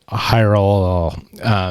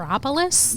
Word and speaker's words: Hierapolis: I'm just not even going to try to pronounce at this point, but it's, Hierol. Yep, nailed it. Nailed it. Hierapolis?